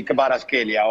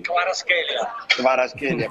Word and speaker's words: Kvaratskhelia: Che Ciro, scusa, com'era la pronuncia di Kvaratskhelia oggi? Kvaratskhelia.